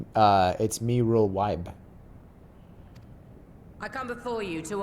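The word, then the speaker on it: Merlwyb: I am Merlwib, Admiral of Limsa Laminsa. She said her name wrong. It's Mirul Wibe.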